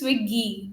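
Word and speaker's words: Swiggy: from sui and whates it's not s is swiy that pronounced yes swiy okay okay okay so you're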